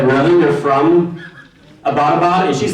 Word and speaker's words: Abbottabad: And I was like, really, you're from Abbottabad? And she's like, yeah, and it's not pronounced Abbottabad. I was like, oh, how do you say it? She was like, it's Abbottabad.